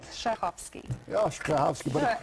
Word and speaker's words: Strahovski: you need it does i always say it's like sneezing so you have to kind of get the first syllable like clean your throat and the rest is easy welcome back june is